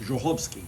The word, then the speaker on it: Żochowski: My last name is actually pronounced Żochowski, and it's Polish.